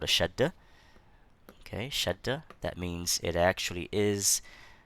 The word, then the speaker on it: Shaddah: Okay, Shaddah. That means it actually is. It's not written as a double letter, but it's pronounced as a double letter.